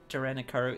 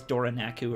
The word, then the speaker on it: Doranikaru: It, Doranikaru, it's kind of, it took me a while to say it right. I kept thinking it was, I can't remember what it was, but like I kept mispronouncing it in my head for the longest time until I actually looked at it. I thought it was Doranaku or something, which is not even close.